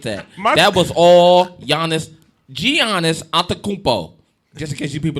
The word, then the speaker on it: Giannis: don't you forget that that was all giannis giannis just in case you people don't know how